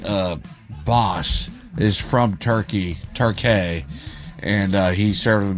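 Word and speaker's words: Türkiye: Um my uh boss is from Turkey, Turkay, and uh he served in the military and everything. He says it's pronounced Turkay. It's not Turkey like gobble gobble. Like it's Turkay.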